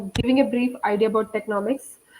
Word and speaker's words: Teknowmics: Now you talked about how you started in blockchain, and right now you are with how do you pronounce Technomics?